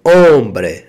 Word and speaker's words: hombre: quer homem né soy un hombre você é hombre não homem mais que você tá aprendendo espanhol como escreve e como pronuncia Bombril o h que é mudo e